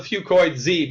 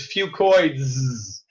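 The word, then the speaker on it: Fucoidz: I call it Fucoid Z because that's easier to pronounce. But really, the correct way to say it is Fucoids.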